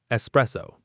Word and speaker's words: espresso: Many people say espresso adding an x, but there is no x. It's espresso. Sresso. Espresso.